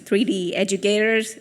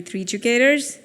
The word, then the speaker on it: 3Educators: I know it's very hard to pronounce, 3D Educators, or it's actually 3Educators.